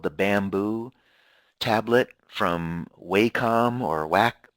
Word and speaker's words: Wacom: The most popular is called the Bamboo tablet from Wacom or Wacom, W-A-C-O-M is how you spell it.